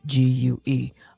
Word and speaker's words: Domingue: Haiti then was known as Saint Dominique, if I'm pronouncing it correct, or Dominique, or Sen. It's Domingue. I'm sure I could have